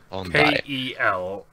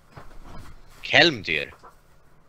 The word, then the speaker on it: Kelmdyr: Sorry, is this Condryer or Condyer? Kelmdeer. Condyer, okay. Condyer. K-E-L-M-D-Y-R. Condyer. Kelmdeer. Could you spell it in chat? Oh shit, I was way off in spelling. Alright. Cool. Kelmdyr. Yes, that's what I've been saying.